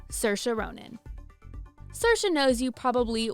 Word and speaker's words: Saoirse: For the record, I pronounce it Saoirse. To be fair, reading Saoirse on paper isn't the easiest to pronounce, but it's a good thing you know now.